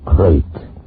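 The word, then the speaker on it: krait: What kind of a guy Harry Pope was and what kind of a snake the crate is. First, the crate. You spell it K-R-A-I-T.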